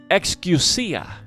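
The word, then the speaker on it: ἐξουσία: believe but this word authority in greek is pronounced excusa and this other word is dutimus for power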